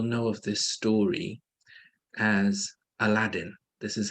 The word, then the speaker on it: Aladdin: But the correct pronunciation is Aladdin. Aladdin. It's not Aladdin. It's Aladdin.